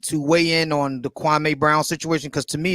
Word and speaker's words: Kwame: But no, it's Kwame.